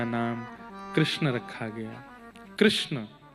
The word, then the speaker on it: कृष्ण: कृष्ण इस शब्द का उच्चारण कई लोग शुद्ध नहीं करते। क्योंकि शुद्ध कर लेंगे तो फिर भगवत प्राप्ति हो जाएगी। इसलिए सब लोग इस नाम को कोई किशन बोलता है, कोई कृष्ण बोलता